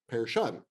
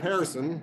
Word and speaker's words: Pehrson: ago and while there I was instructed that the proper pronunciation of the last name would be pair shut so I'm taking the middle ground we're going with Pearson foreign so Gustav Pearson